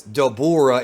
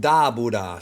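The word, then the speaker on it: Dabura: of course Doras is dabra even though it's dbor in the English dub it's supposed to be pronounced daura so the pun is abura daura it's all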